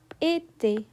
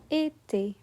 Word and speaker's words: été: It's a sharp I sound. For example, café, café, été, été, télé, télé.